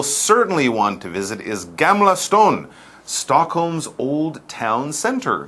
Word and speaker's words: Gamla stan: in age no no Gamla stone apparently is how you say this and we're still in